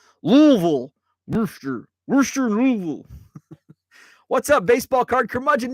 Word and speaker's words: Louisville: Louisville like uh it's the correct pronunciation is using as few syllables as possible Louisville Louisville what's up baseball card